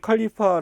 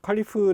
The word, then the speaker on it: 칼리파: 보시면 됩니다 우리 책의 칼리파 라고 나왔는데 칼리프 라는게 영어식 발음 이에요 그래서 전 톡으로 는